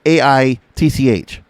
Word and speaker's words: Aitch: So it's like spelled H, but like you pronounce it, and it's AITCH.